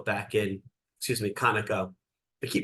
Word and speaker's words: Conoco: Jefferson commenting on his Corporation take over of Koko back in excuse me kanako I keep mispronouncing that Kano back in 1981 well you